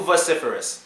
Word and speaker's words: vociferous: girls out here man they are way too vociferous and people who are vociferous typically aren't happy